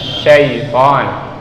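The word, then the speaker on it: شَيْطَان: Lanjutnya shin ya, huruf shin yang ada titik tiganya itu tempat keluarnya adalah tengah-tengah lidah kita. Lalu bagaimana cara mengucapkannya? Angkat lidahnya ke langit-langit, anginnya keluarin. Jadi kalau ada teman di depannya jangan disemprot tapi ya.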